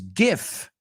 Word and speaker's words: GIF: one okay what does GIF stand for GIF or gif some people pronounce it Jif it's disputed some people say half the population says gif and the other half says Jif by the way it